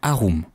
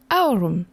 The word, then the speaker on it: aurum: C'est Au du latin aroom. On prononce plutôt Aurum.